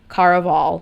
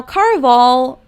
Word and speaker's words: Caraval: the one, the only Caraval, which I did listen to the audiobook. It is not pronounced Caraval, it is Caraval, because supposedly it's supposed to be like a Spanish themed book, which I did pick